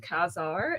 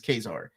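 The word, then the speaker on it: Ka-Zar: Okay, so the way I pronounce it is Kazar. Oh. But what you're saying is actually right.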